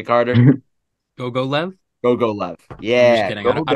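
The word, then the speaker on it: Gogolev: that's how you say Google love is that how you say Carter go go left go go left yeah I don't know how you pronounce It Go Go not Google left go go left Jack yeah that's why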